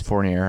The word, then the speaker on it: Fournier: It's Fournier. I'm saying it right.